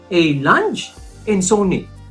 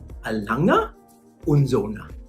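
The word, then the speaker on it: A. Lange & Söhne: Kasi yun po yung pangalan, a Lange and Sony. No, it's not pronounced a Lange and Sony. Dahil German watch po ito, dapat ang pronunciation ng brand, German din. Alanga, Unzona. Alanga, Unzona.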